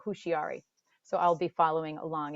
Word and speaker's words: Houshiary: made her home in London, England, most people pronounce her name Hushiari.